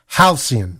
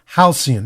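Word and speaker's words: halcyon: y n and uh this is how it's pronounced let me get it right here halian it's pronounced halian it means calm peaceful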